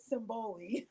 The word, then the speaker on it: Simbali: And so, listen, we have with us Simbali. Can I say Simbali still? Are you? Is that okay? Yes. I try to pronounce it Simboli.